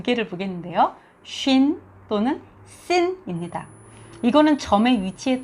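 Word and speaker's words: שין: 점이 만약에 오른쪽 위에 찍혀 있으면 쉰이 됩니다. 우리 영어에 볼 때 she라고 발음하죠. 그럼 비슷하게 쉰이라는 아주 부드러운 쉰이 되고요. 그리고 만약에 왼쪽 위에 찍히게 되면 sin이 됩니다.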